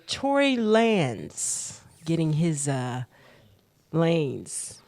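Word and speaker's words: Lanez: Lance getting his uh lanes lanes like switching lanes there you go that's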